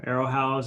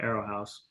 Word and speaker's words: Aerohauz: i'm glad we're able to learn about um arrowhouse and all the um amazing impact that looks